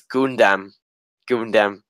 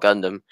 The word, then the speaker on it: Gundam: first heard about Gundam, I pronounced it as Gundam, like I was a kid, so it was that's how I first heard about that. I thought it was called Gundam, but it's actually called Gundam.